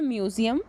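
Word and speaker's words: museo: ही मिलते जुलते हैं, लेकिन थोड़ी बहुत उसकी प्रोनाउंसिएशन में चेंजिंग है। नेक्स्ट वर्ड है म्यूज़ियम।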